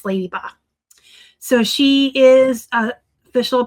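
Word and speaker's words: Ledyba: It's spelled L D Y B A, but it's Ladyba.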